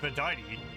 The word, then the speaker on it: Verdite: Also, it's apparently pronounced Verdite, at least by the English voice actor.